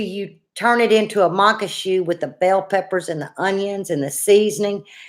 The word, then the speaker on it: Maque: It's mock a shoe, like a shoe that you put on your foot. It's Maque.